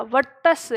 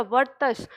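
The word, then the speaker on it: वर्त्स्य: ठीक है, तो इनका जो वर्ग है वो वर्तस्य कहलाएगा, वर्तस्य, इसका उच्चारण ध्यान रखिएगा, वर्तस्य। ये जो र ऊपर लगा है ये त से पहले ही आएगा, वर्तस्य कहलाएगा।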